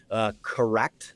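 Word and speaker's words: Korrect: So Correct, spelled with a K, is one.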